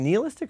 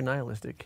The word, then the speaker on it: nihilistic: Is it nihilistic or nihilistic? I think you can pronounce it either way. I've heard it both ways.